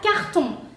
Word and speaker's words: carton: La primera palabra sería carton. Carton, porque tiene el sonido on, sería carton, sonido nasal.